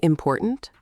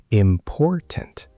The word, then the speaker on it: important: Important. The stress is on por, the middle syllable. Important. Important. Yes. Now, if you said important, stress on the first syllable, it sounds strange, wrong.